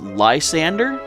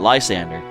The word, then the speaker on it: Lysandre: watched everyone's calling it lysander but i feel since this is uh you know calo's based off france andre is a french name so in my mind i see this as lys andre so i don't know